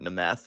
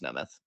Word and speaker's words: Nth: correct I know it's nth sit the down um but they're call him the meth because his that's how his name is spelled and it sounds like you're saying meth yeah because that's what